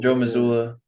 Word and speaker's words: Mazzulla: Bro, I was literally typing in Celtics head coach, so I knew how to pronounce his name. Yeah, Joe Mazzulla.